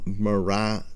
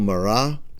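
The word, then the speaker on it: Marat: stuff from Morat newspaper now Jean Paul Morat could be pronounc pronounced morat by some people in the English language. Uh the t is often silent in the end of French words unless there's an e after the t. So Jean Paul Mara would have been how people would have pronounced his name in the French language or at least something like that.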